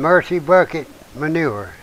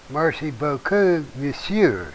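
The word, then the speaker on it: merci beaucoup monsieur: It's Mercy Beaucoup Monsieur. Okay, I said it wrong. I said the southern version of it. That's Mercy Bucket Manure.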